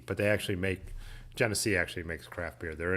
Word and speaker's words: Genesee: it's pretty horrible so you've always heard genesee pronounced with a g sound gunnessy or guinea i've never always been genesee yeah schaefer yeah i've had shaffer shafer light